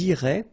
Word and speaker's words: iraient: if you look carefully, you get A-I-E-N-T, okay, but then phonetically it goes like E, okay. So, technically, these form and these forms here are pronounced the same way, and it goes like irait, okay.